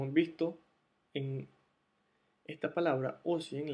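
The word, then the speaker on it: осень: visto, en esta palabra o 100, la O está pronunciada como O debido a que está acentuada esta sílaba, o 100.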